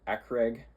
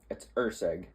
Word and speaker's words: Ursig: I believe I was saying Ekrig. It's Ursig. It's Steve Ursig.